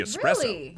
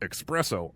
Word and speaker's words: espresso: after world war ii introducing the espresso which i mispronounced expresso all the time i didn't